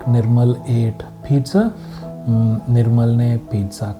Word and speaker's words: Nirmal: Don't say Niramala. No, that's not my name. My name is pronounced as Nirmal, so clap. Nirmal. Twice, right? So 2 syllables.